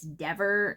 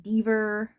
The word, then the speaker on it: Dever: It's Dever, not Dever, or whatever he said.